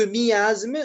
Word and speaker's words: miasme: Vous dites que miasme, normalement, ia, ça doit être deux syllabes.